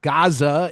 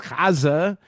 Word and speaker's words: Gaza: It's not Gaza, it's Gaza, and and that's it.